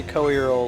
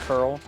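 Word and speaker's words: Coeurl: According to Japan, it's Co-Earl. You pronounce the COE as Co, and then the end is URL, Earl, Co-Earl.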